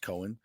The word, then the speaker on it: Coen: I think it's Coen. Should be pronounced Coen.